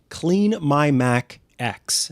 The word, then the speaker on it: CleanMyMac X: It's called CleanMyMac X. And yes, it is pronounced X as opposed to 10.